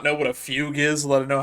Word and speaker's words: Fugue: not know what a fugue is, let alone know how to pronounce it? Because I remember when people when the drip feed for Fugue came out and everyone was calling her Fugway and like it my